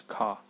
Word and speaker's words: ക: So once again, this is pronounced as Ka, Ka.